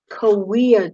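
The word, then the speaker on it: Cahuilla: take some notes on the koea tribe it doesn't look like it sounds okay but it definitely that's the way that it is spelled the koea tribe is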